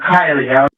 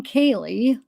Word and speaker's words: Kiely: Kylie. So she says she's a big presence at the party. And then she pronounces her name wrong. Kaye.